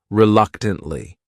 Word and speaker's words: reluctantly: The next word is reluctantly. This word has 4 syllables, and the stress is on that second syllable. That third syllable also has that schwa.